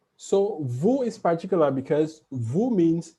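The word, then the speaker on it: vous: the same connection because vu ends with s so alone vo is silent but in this sentence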